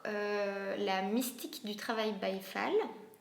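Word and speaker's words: Baye Fall: j'ai travaillé sur euh la mystique du travail byfal bafal ça s'écrit B a y E F a l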